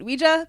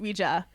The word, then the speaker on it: Ouija: Also, they made like four uh Ouija movies. Also, I pronounce it Ouija because it's pronounced Ouija.